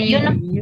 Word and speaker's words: uniform: A ball, a jacket, a hat, a tree, a uniform. Nah, di sini dibilang a uniform. Kenapa pakainya e? Kan depannya U. Because pronounced like you.